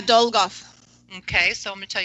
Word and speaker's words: Dolgoff: name is is it dole golf or how do you say your last name yeah dole golf okay so let me